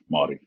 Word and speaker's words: Māori: Māori. I don't even think I can say it like that. So it's I'm trying to figure it out. So you roll the R like a D.